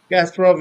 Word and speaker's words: Kasparov: Casparov. Kasparov is I think the western pronunciation of that name.